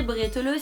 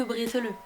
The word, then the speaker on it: Bredala: Alsace puisqu'on va faire des bretal ou à prononcer bretele si vous êtes du barin. Mes chers amis barinois, on est d'accord que bretala c'est quand même beaucoup plus joli à entendre que breteleux.